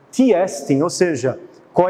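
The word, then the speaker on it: τί ἐστι: marcada pelo que é, em grego se pronuncia de forma bonita, o tiestin, ou seja, qual é a essência daquilo que nós vamos perguntar.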